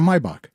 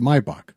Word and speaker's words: Maybach: Some people call it some people say Maybach or Mybach. It's pronounced when you're in Germany we pronounce it Mybach. But people call it Maybach.